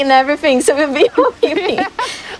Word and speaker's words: Hoppip: I don't even know how to pronounce it, but when I used to be a child, I used to say Hoppipi. Because every time there's a P, it's not silent for us.